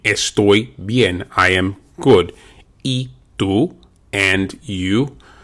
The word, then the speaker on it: y: Y tú, and you. The letter Y is pronounced like the English letter E.